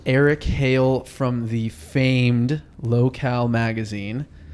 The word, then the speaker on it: Locale: Hale Eric Hale Eric Hale from the famed locale magazine how many people say it wrong how many how many funny sayings of your magazine hey you oh no lo koe I think at the beginning I got a